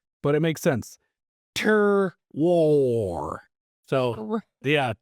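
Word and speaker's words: terroir: far as how it's supposed to be phonetically pronounced, but it makes sense. Tur war. So, yeah. Tur war. Tur war.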